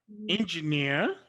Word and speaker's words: engineer: stressed on the fair engineer it is stressed the stress is on the nc level two souvenir the stress